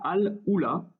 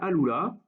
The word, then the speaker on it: Al-Ula: On est dans une ville et un oasis qui s'appelle Al-Ula, ou Al-Ula, mais je pense plutôt que le U se prononce OU dans la langue arabe. Donc Al-Ula.